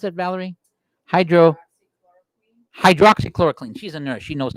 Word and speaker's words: hydroxychloroquine: How do you pronounce that, Valerie? Hydroxychloroquine.